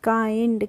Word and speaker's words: kind: आई का प्रोनाउंसिएशन ए हो रहा है यहाँ पे भी काइंड। कैसे हो रहा है? KIND। तो पढ़ेंगे हम काइंड। कैसे पढ़ेंगे? किंड नहीं पढ़ेंगे हम, इसको पढ़ते हैं काइंड पढ़ते हैं।